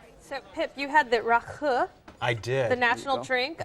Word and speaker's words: Rakı: Well, actually, the belly dancing, actually, believe it or not, came before the Rocky or Rakı. That's how you pronounce it.